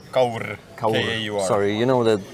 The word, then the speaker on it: Kaur: Kaur. Kauder? Kaur.